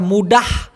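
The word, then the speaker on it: mudah: কিন্তু বলা হয় আবার মুডাহ এখানে লাস্টে একটা হই এইজন্য দুইটা কাছাকাছি দিয়েছি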